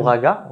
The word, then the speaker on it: raga: sur YouTube rag ou raga, plutôt raga. On écrit raga, mais ça se prononce rag.